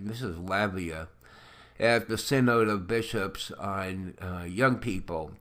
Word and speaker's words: synod: cyanide Synod excuse me I keep on wanting to say it the way it's the way it looks you know sy it's pronounced sin sin sin need say need an ID no it's n OD it sounds like sin nod to me but I don't